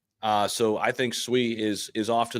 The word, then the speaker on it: Sui: of the people sayu I think it's technically swe which by the way fun you guys are both saying it wrong by the way SOI I don't know it's it's Japanese it's Japanese it's the Japanese word for water by the way fun